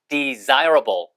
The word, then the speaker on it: desirable: Desire까지 하시고 그냥 rubble. Rubble. R이 발음이 끝에 있으니까 desirable. desirable 그러면은 바람직한 이거 굉장히 중요합니다.